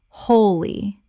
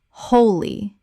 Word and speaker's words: wholly: wholly Correct pronunciation. wholly The W is silent. It sounds exactly like the word wholly.